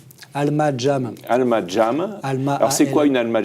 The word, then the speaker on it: Alma Jam: vous avez créé, donc d'Alma Jam, comment vous prononcez ? Alma Jam. Alma Jam.